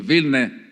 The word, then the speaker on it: Vilne: and others that place call it Vilnius pronunciation vilne does have meaning now one